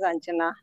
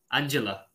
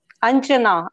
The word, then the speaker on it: Anjana: My name is Anjana. Angela. Anjana, Anjana. Oh, Anjana.